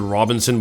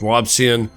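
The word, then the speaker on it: Robison: spelled right here I I want to pronounce it Robinson but it's not it's robsan um he was an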